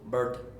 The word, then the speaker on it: bird: It's kind of like your tongue trying to roll.